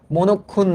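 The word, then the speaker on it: মনঃক্ষুণ্ণ: না পেলে মনক্ষুন্ন হয় এটার উচ্চারণ তোমরা দয়া করে একটু পড়ে রাখবা মনোক্ষুন্ণ কারণ এটা বাংলা দ্বিতীয় পত্রে আসতে পারে।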